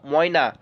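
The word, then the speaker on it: मैना: তাম্রচুর বোঝা গেল এইভাবে মনে রাখবে ময়না ময়না পাখিকে আমরা কি কি নামে চিনি দেখে নাও সারিকা মধুরায়া ত্রিলোচনা ত্রিলোচনা সারিতা মধুরনা ময়না মেনা লেখা আছে মেনা কিন্তু এটার উচ্চারণ ময়না বোঝা গেল এবার দেখো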